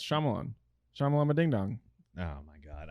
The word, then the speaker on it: Shyamalan: name i'm not shyamalan that's it yeah it's shyamalan shamalama dingdong oh my god i gotta pee